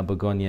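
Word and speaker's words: Bourgogne: have regional begonia whines now begonia is the French word for burgundy and it's spelled like this so you might see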